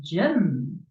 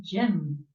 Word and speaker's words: gym: go to exercise the gym oh thank you the gym so you see that it's pronounced Jim with the J even though we spell